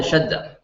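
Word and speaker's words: شدة: Why is this pronounced like a ha? Shadda. Because it's preceded by a fatha? That has nothing to do with it. Because it's a closed ta.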